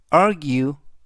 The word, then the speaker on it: argue: 그가 아니라 이번 단어에서는 예외적으로 규 그래서 전체적인 발음은 argue arg argue 라고 발음하시면 되겠습니다 품사는 동사 뜻은